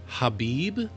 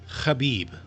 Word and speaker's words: Khabib: Hhabib. My understanding is that's not the pronunciation of it. My understanding is that it's actually pronounced with that fricative in the background. Almost choked my own spit. Khabib.